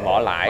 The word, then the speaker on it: vỏ lãi: Cái xuồng mình đi gọi là cái vỏ lãi. Vỏ lãi. Dạ, vỏ lãi. Vỏ lãi mà tiếng miền Nam là đọc là vờ thành giờ là vỏ lãi.